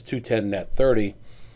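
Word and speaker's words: 2/10, n/30: That's pronounced as 210 net 30.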